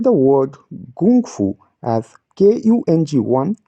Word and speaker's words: gōng fū: characters no it's not gongfu notice that small Mark at the top of the letter O It's a tonal infliction marker because of that we pronounce it as Gung Fu not gongfu according to the up